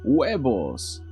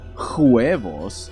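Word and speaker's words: huevos: exist so it's not hos no you silly bonga it sounds like it sounds like that as if it didn't exist because the H is silent in Spanish it's funny because it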